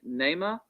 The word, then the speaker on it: Neymar: they say all right is the correct correct pronunciation of your name neymar yes sir all right nema my